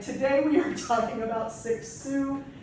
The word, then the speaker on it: Cixous: So anyway, today we are talking about Cixous. Yes, that is how you pronounce it, Helene Cixous.